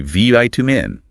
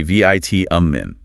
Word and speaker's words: vitamin: Americans loudly and proudly say vitamin. Brits say vitamin.